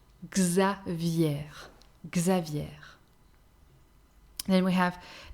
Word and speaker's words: Xavier: have the letter x with the mixed name xavier listen and not a common uh the feminine version is really not common although i had a grandmother who was called like this xavier guzza vier xavier then we have letter y again here not